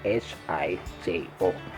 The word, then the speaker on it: hijo: Hijo is pronounced hijo, but it spells Hijo. So the H in Chabacano is silent. We don't pronounce the H anymore, and the J becomes the H. So instead of saying hijo, we say hijo.